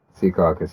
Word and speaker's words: Secaucus: Secaucus, yeah.